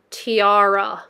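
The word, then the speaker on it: Tiare: Oh, it's pronounced tiara.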